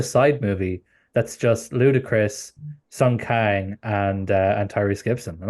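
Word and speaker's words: Sung Kang: bringing up gal I will note her and Sun Kang is that how you say his name yeah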